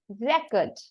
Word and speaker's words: record: the second syllable and you have to give the stress on the first syllable so the right pronunciation should be record yes and when you're